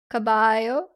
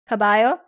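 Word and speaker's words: caballo: Cabayo. The double L is like a non L sound, right? Kabayio.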